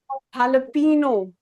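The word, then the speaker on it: jalapeño: read this, this is jalapino, right? But how do we pronounce this here? H in Spanish language, H is spoken as or sorry, J is spoken as H. So this is jalapino.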